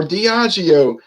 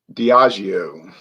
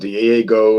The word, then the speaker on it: Diageo: changed the name to Diageo, which I notice a lot of people that do videos have trouble pronouncing that word. They call it Diego and everything else.